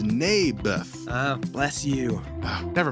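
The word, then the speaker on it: Naboth: that's what i said may birth i think you're saying it wrong his name was neybeth ah bless you oh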